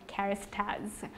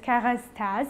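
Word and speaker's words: Kérastase: i am talking about charis tags so the actual pronunciation for charist has is kara's taz in french i'm just obsessed with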